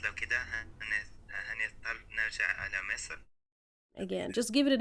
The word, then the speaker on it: مصر: مصر, not مصر. مصر is the proper pronunciation of the country. We see, in the modern standard Arabic it's مصر, but in Egyptian we say مصر.